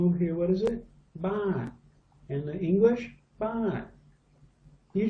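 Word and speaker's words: บาท: Remember this was the U-boat, the b sound. What's this? Ah. And this was the turtle. So what does this become? Baht.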